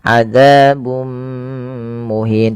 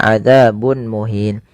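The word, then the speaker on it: عذابٌ مهين: kepada mim dan ditahan adzabum muhin tidak dibaca adzabun muhin.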